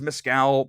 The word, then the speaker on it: Mescal: let's talk about Paul Mescal for I hope I'm saying his name right have I been saying it right it's Mezcal Mescal it's a Mescal take your pick I I I've never